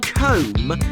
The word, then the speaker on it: comb: The hairdresser always carried a comb. Yes, that's it. Well done. Note how comb is spelled C O M B.